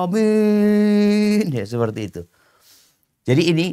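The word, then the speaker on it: آمين: Makanya kadang-kadang kita ngelihat ada yang A-nya dipanjangin banget. Bukan dua harokat ya. Bukan amin. Dia mau coba amin.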